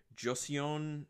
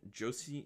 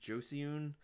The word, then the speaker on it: Joseon: supposed to be from the Joseon jossie Joseon I'm sorry I'll just spell it jo SEO and dynasty which was actually